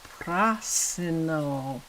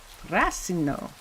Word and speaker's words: Prasino: let me find out I said it wrong it's PR Pino Pino prasino isn't it prasino it might be that